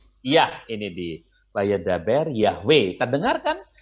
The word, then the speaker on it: Yahweh: translate terasinya ini ya Wei itu mirip dengan bunyinya ya Wei mirip dengan lafalnya Yahweh oke Nah inilah yang